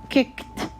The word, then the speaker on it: kicked: football kicked again kicked kicked kicked so as if we're pronouncing the idi it's pronounced here kicked as if it's a t when we pronounce it